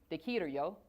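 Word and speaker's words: できるよ: And here's how you pronounce it. Dekiru yo.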